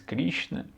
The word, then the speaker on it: Krishna: então a palavra insiste em sânscrito with Christina pronuncia-se Krishna significa o preto ou azul e os dois